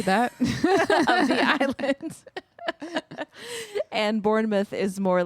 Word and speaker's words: Bournemouth: called Bournemouth Bournemouth or Bourn mouth it's spelled like mouth but all the English people I listened to pronounced it MTH Bournemouth Bournemouth yeah well those